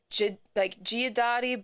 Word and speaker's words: Guidotti: So there's like the Midwest bastardization of it, which is Guidotti. Guidotti. Okay. Yeah. Yeah. Which is the way I'm pronouncing it for sure. And then there's the like in the family, if you want to do it Italian, it's Giudotti, but like we're not Italian.